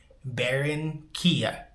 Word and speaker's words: Barranquilla: Now, I know you're supposed to roll those R's. I can't roll my R's, so I'm just going to pronounce it how I'm pronouncing it. Barranquilla.